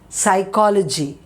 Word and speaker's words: psychology: Psychology, P is silent.